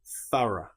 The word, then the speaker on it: thorough: In the next example, the sound disappears completely. Bow through. Thorough.